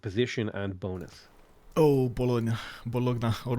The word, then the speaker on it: Bologna: and bonus oh bolog bologna or bologa I like to say bologa but I don't know some people pronounce it bologna it's is that for